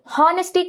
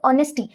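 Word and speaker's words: honesty: அதே மாதிரி ஹானஸ்டி கிடையாது, அது ஆனஸ்டி.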